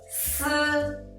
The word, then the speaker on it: 斯: when you pronounce it, the first thing you need to do is let the tongue tip to touch the back of the lower teeth. At the same time, let the air rub out the surface of the tongue and the upper teeth.